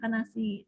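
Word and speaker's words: Cannaceae: Jadi misalnya pada tanaman kana ya, tanaman kana ditambahkan aceae di belakangnya jadi Canaceae, kanasi ya, dibacanya kanasi, tulisannya Aceae gitu. Tapi dibacanya bukan ace, Canaceae bukan, tapi kanasi.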